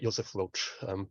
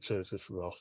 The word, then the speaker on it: Joseph Roth: He would have pronounced it Joseph Roth, but I follow Michael Hoffman's lead, Michael Hoffman being his main translator into English over the last 30 years. He says I anglicize him when I pronounce it Joseph Roth, so I'm going to do the same.